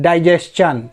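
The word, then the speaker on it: digestion: एक और वर्ड है डाइजेशन, जिसे लोग आमतौर पे डाइजेशन बोलते हैं, वो गलत प्रोनाउंसिएशन है।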